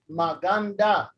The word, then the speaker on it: maganda: but we will so maganda is uh the last syllable is da maganda maganda okay beautiful oh